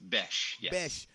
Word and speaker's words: Bech: see it's you know bch pronounced besh you know what's crazy because you know the